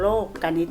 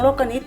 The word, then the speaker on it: โลกนิติ: ตาม คุณ ครู มา เรา จะ อ่าน ว่า โครง โลกนิติ นะ คะ นัก เรียน ไม่ ใช่ นิติ นะ คะ คำ ว่า